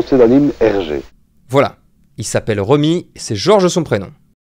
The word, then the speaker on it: Remi: Il y a certains d'entre vous qui m'ont fait la remarque, et je les en remercie d'ailleurs, mais en réalité ça se prononce George REMI.